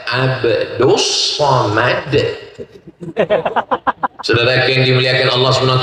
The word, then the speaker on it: Abdul Somad: Namanya Abdus Somad. Tulisannya Abdul Somad tapi cara bacanya Abdus Somad.